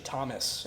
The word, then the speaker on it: Thomas: It's actually Thomas, and it's pronounced the same exact way.